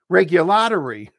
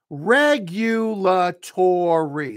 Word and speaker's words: regulatory: But when you have this word, the stress is on the first syllable. We say this as regulatory.